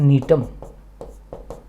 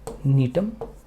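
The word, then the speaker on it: Gnetum: तो एक तो याद रखना नीटम, जी साइलेंट है ना, नीटम।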